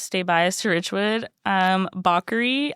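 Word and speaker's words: Bakeri: I don't even know if I'm saying it correct. It's spelled B A K E R I. Yeah, bakery. Bakery. If people say bakery, I like to maybe just say baker to act like it's a different word.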